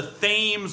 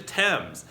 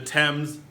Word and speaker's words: Thames: Now, it looks like it's going to be called the Thames River. However, that's not the correct pronunciation of it. It's actually the Thames.